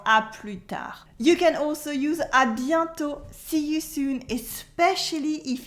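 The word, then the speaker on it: à bientôt: you can also use adianto see you soon especially if it's not in the same day whether it's final t is silent as well is the shorter version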